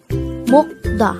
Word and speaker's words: 먹다: The word meokda could be divided into two syllables. Meokda. Mok is formed from the combination of the sounds of mium, o, and giok, while da is formed from the combination of the sounds of dikat and a.